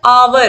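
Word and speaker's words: hour: ही has been teaching for dash आवर। तो यहाँ पर H तो लिखा हुआ है, कॉन्सोनेंट है, लेकिन आवर क्या इसका जो प्रोनाउंसिएशन है आवर, और आ क्या है?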